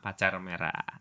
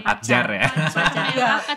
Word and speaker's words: Patjarmerah: was here Network sama pacar merah ini bacanya pacar merah ya bukan Patar yanya kalau yang tidak tahu